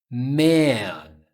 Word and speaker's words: man: Man. Ok? Man. Um pouquinho mais longo. Você faz esse an. O A não é EAN, ok? An. Então, diferença em pronúncia.